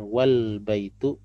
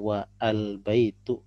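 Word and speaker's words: والبيت: a tidak dilafalkan dan kalimat dilafalkan dengan Wal Baitul dan bukan wa al baitu untuk menunjukkan penghilangan a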